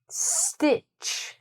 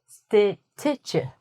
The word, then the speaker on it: stitch: "Stitch", we don't say "stih-tuh-chuh".